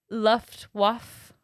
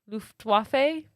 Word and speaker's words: Luftwaffe: a job with the luftwaffe luftwaffe it's definitely not that luff there's the w is a v loof um she she got